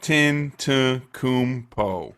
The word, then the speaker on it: Giannis Antetokounmpo: Giannis Antetokounmpo. There we go. You get an applause one for that one, because I sure as hell would have butchered that. Antetokounmpo.